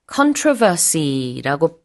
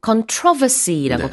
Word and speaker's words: controversy: controversial 논란이 많다라는 뜻인데요.이 논란 controvery라고 발음하기도 하고 controvery라고 발음하기도 합니다. 강세가 다른데요. 둘 다 가능하고 논란이 많은 국민 투표였어요.